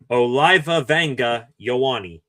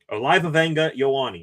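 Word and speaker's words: Olaivavega Ioane: I actually got the phonetic pronunciation of his name. Penn State uh left guard Oliva Wangga Yawani. Oliva Wangga Yawani.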